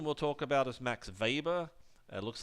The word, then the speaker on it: Weber: the last person we'll talk about is Max Weber it looks like Weber but it's pronounced with a weber also born in Prussia in this case to a wealthy and prominent family Weber his father was heavily engaged in politics and